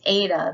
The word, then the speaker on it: Eta: say Zeta next is Ada this is one of our vowels uh Ada is a as in eight so a eight and